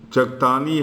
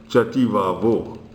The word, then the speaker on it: Chakthani: Chakthani has been mispronounced as Chativavo.